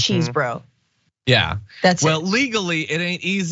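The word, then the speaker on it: Chesebro: then five is Kenneth chesbro cheese bro some sort of bro there had gotta be if you're gonna say it say it right it's cheese bro yeah that's it well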